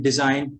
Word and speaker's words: design: Even at the end, same, the combination GN at the end. For example, common words like campaign, design, foreign.